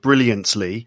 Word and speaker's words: brilliantly: brilliantly yeah yeah because i'd say there's three ways of saying it so there's there's one way you definitely make a t sound brilliantly yes which is actually not how i i wouldn't say it like that either brilliantly but then almost nobody would yeah and then the other one is where you put the your tongue into the position to make the t sound but you